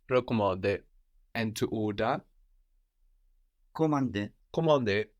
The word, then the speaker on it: commandé: Commandé. So again, the N here that we have at the end of the syllable is kind of silent, no? Commandé.